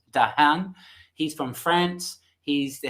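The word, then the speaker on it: Dehaene: here dr stan lisa i think it's pronounced dahan he's from france he's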